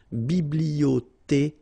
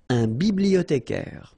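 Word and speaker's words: bibliothécaire: So here and then remember this it goes like with then biblotare biblio remember in French the ash doesn't exist so you don't pronounce it biblotare biblotare all right so let's see the others receptionist A factor a conductor came the taxi pilot.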